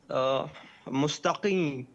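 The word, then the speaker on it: مستقيم: Can you pronounce it again, please? Mustaqim, mustaqim, like this.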